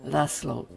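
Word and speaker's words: László: I'll stick with the Hungarian which is lasslo. Now, it's llo not llo. So, the s is a single s sound.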